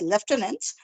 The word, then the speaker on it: Lieutenant: learn this letin and there no F sound is there phonetic sound is not there how to learn it but yes once it has been told to you learn it as Lieutenant but yes pronounce it as leftenant becomes easy so it's ack